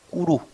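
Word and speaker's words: Kuru: 꾸루 내가 잘못 발음을 했습니다. 꾸루입니다. RU이기 때문에 L 발음이 앞으로 가서 붙질 않습니다. 그래서 꾸루입니다.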